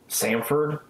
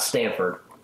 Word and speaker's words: Samford: normally around there too Samford this is Sam not sa in so Samford not Stanford so I don't think